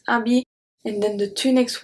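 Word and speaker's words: habit: see the first word abi abi so the ash is not pronounced abby i don't say habi abi abi abi is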